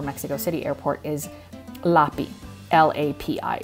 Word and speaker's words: LAPI: And it's the lab that is used by the CDMX airport, or Mexico City airport, is LAPI, L-A-P-I. It's pronounced LAPI, LAPI.